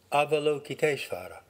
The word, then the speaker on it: Avalokiteshvara: Avalokiteshvara would be an approximate American English pronunciation. Avalokiteshvara.